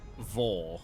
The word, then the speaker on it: Vore: Revo vuh vos I don't even know how to pronounce most these words I mean they Oh, Vore. There we are. Like Thor, but with a V.